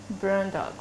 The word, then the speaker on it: Bruyndonckx: it like this okay so Instagram is elisa.brandox brandox yes oh I got it random um Tick